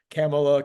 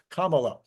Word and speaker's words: Kamala: of people bashed me camela Kamala Cela I don't know anyway I finally got it it's Kama it's like the like the Kama you know Kamala okay so but did